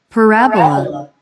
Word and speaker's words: parabola: Entonces aquí él nos recuerda eso y la manera en cómo esta palabra asociada a la clase se pronuncia en inglés. Parabola.